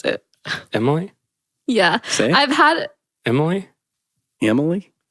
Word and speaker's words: Emily: and pape and mmm I feel like just people from Indiana I don't know why say my name like with an e at the beginning Emily Emily well how